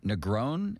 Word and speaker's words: Negron: Is it Christopher Negron? Is that how you pronounce it? Yep.